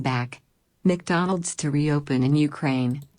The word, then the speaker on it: Ukraine: 나라 우리 우크라이나라 그러는데 영어로는 우크라이나가 아니라 어떻게 발음되냐면은 Ukraine 이렇게 레 강사가 들어갑니다.